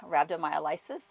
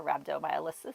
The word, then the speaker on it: rhabdomyolysis: It's called rhabdomyolysis or rhabdomyolysis. I've heard it pronounced both ways.